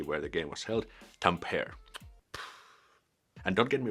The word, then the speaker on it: Tampere: when there was this NHL games held in Tampere, and they were interviewing this one NHL player, American. They pronounced the Tampere, where the city where the game was held, Tampere.